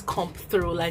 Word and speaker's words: Comptroller: I'm trying to get myself used to pronouncing it as Comptroller General instead of Controller General.